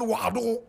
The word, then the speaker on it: Ouagadougou: Correct pronunciation, Ouagadougou.